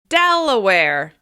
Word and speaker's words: Delaware: Next up, Delaware. Delaware. This state is stressed on the first syllable. Delaware. Delaware.